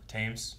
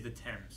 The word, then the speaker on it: Thames: Thames. The Thames. It is the Thames. The fucking Thames. Fucking Thames is flooding. It's spelled Thames, which confused Maggie to no end.